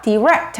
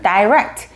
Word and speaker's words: direct: 발음 둘 다 괜찮습니다. direct 하시면 미국 쪽 사람들이 더 많이 쓰는 발음, direct, 영국 쪽 사람들이 더 많이 쓰는 발음.